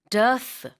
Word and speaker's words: dearth: dearth, 발음은 earth랑 라임이 돼요. 그래서 앞에 d 하나 붙는 건데 무언가의 부족이란 뜻입니다.